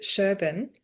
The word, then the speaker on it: Sherban: So everyone, I'm here today with David Sherban. Is that how I pronounce your name?